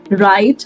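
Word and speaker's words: write: So everybody when a word begins विद डब्ल्यू एंड आर the letter W stage silent. तो जैसे कि ये words W आर से begin हो रहे हैं तो इनमें मैं इनको राइट नहीं बोलूंगी। मैं इनको रोंग नहीं बोलूंगी। I will say राइट।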